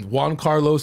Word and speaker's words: Jhancarlos: pronounce his name I know him as like John Carlos but jonka I always call him jonka yeah it's Juan Carlos John Carlos jonka I'm like I just call